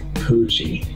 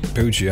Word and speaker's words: Pucci: i pronounce your name right how do you pronounce it fitzgerald poochie poochie all right you're irish italian yeah i say